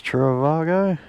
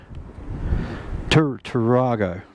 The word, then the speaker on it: Tarago: I think that's how you say it. I think it's Travago. Tarago, not Travago.